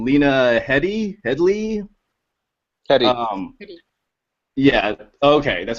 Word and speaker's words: Headey: It's either Heady or Heady, because in Britain they tend to pronounce the last name Head as Heed, so it could be Heedy.